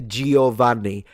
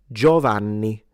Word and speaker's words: Giovanni: Don't lie to me, because you all say Giovanni. The I is not pronounced. It's Giovanni. Giovanni.